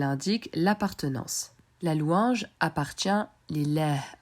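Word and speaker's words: لله: Tu remarqueras également que le premier a ne se prononce pas. On ne dit pas li Allah mais lillah. Segment numéro 4.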